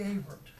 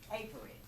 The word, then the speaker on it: Averitt: Avert. Avert. Did I pronounce that correctly? Averett.